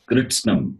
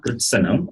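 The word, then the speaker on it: कृत्स्नम्: It is Kritsnam, not Kritta. Kritasnam. Kritsnam. Difficult to pronounce. You will hear it later. Not Kritsnam. Kritsanam. It is not Kritsanam. It is Kritsnam.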